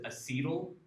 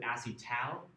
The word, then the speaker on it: acetal: And some people refer to this as acetyl, but I pronounce it acetal because it has the al of the aldehyde in there.